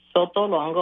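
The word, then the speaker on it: Sotolongo: My name is Sto Longo. I'll spell that.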